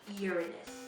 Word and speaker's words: Uranus: 27 moons and it has rings is it's pronounced Uranus Neptune it's deep blue has a big storm